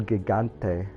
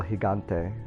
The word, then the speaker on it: Gigante: know um also uh pardon me for pronouncing El Gigante wrong um I looked that up and apparently it is El higante I've been uh messing that one up I thought for sure J's were H's in Spanish so I'm